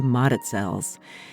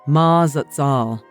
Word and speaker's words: Mazatzals: Highway up into the Mazatzals. The original pronunciation is how it's spelled, Mazatzals, but the locals tell me it sounds more like Mazatzal.